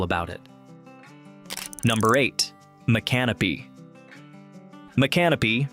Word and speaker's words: Micanopy: Micanopy, pronounced Mick-uh-no-pee, is named after a seminal chief and is recognized as Florida's oldest inland town, established in 1821.